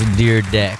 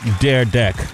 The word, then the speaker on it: Dyrdek: of them is sitting right next to me, Dyrdek. Did I say it correctly, man? That was Dyrdek. Dyrdek.